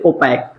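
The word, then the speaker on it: opaque: इसमें देखेंगे तो आपका क्यू लेटर हमारा क्या है? साइलेंट। हमेशा देखेंगे तो क्यू के बाद यू आएगा। कोई भी अगर आप वर्ड देख रहे हैं तो उसमें देखेंगे तो क्यू के बाद ही क्या आएगा? यू आएगा। तो उस बात को भी आप ध्यान रख सकते हैं। और वहां पे क्यू क्या होता है? साइलेंट होता है। तो ओपैक, ओपैक मतलब क्या होता है?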